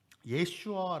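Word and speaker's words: ישוע: 살펴보고 있는데 이 여호수아가 히브리어로 이 여호수아를 발음하면 2 예 슈아 라고 우리가 이것을 부를 수가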